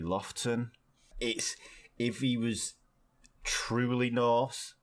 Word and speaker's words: Lofoten: It's spelled Lofoten, but it's actually Lofton.